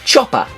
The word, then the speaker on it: Chopper: Chopper, contrary to popular belief, is meant to be pronounced Chopper, like an English cockney for added comedic effect.